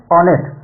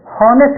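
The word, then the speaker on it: honest: अगला है ऑनेस्ट, जरा ध्यान दीजिएगा, इसको कुछ लोग क्या बोलते हैं, हॉनेस्ट बोलते हैं।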